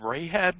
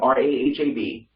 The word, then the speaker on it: Rahab: see what we'll go um question could you pronounce that clear joel was that rahab you said they have r-a-h-a-b oh in hebrew in b but yeah all